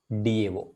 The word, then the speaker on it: DAO: here private I employee Dao to this interface I'm declaring uh EMP Doo interface EMP Doo the doo we generally pronounce it as da employee da new employee